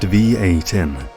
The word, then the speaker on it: Vietin: "My name is Vietin, pronounced V-A-Tin, like the metal.